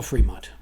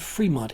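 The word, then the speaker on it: Frémont: If you're taking notes, it's spelled Fremont, F as in Foxtrot, R-E-M as in Michael, O-N-T as in Tango, and if you are taking precise notes, there is an accent mark over the E.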